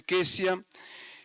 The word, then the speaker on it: Cesia: Llamó el nombre de la primera Gemima, el de la segunda Cesia, que también se pronuncia Quesia, y el de la tercera Keren Apuk.